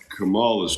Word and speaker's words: Kamala: Under Kamala's term.